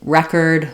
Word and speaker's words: record: noun or a verb in English it's more typical if they're going to be different that the noun is stressed on the first syllable and the verb is stressed on the second syllable other examples would be